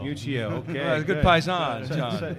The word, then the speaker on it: Miuccio: Miuccio. Miuccio, okay.